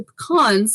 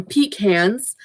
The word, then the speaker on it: pecans: to be careful because i'm very allergic to pecans or pecans it depends excuse me it depends where in the world you're from i pronounce some pecans some people pronounce them peak hands i just weird but